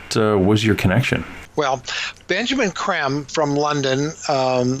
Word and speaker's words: Creme: Tell me, when did you and Benjamin Creme actually get together? What was your connection? Well, Benjamin Creme from London, spelled C-R-E-M-E. It looks like cream, but it's pronounced creme.